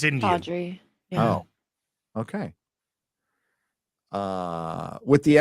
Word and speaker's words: Chaudhry: Chowdhury, by the way, it's pronounced Pride Chowdhury. Chowdhury. It's Indian. Chowdhury.